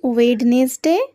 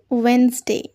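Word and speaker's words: Wednesday: এটা একটা সপ্তাহের নাম তো আমরা কি বলি ওয়েডনেস ডে একেবারেই ভুল কি বলবে ওয়েনসডে ওয়েনসডে next one এস এ এল ও এন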